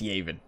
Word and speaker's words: Yavin: is amazing yav Yavin I think it's yaven but if I'm pronouncing it one way it's usually the wrong way I remember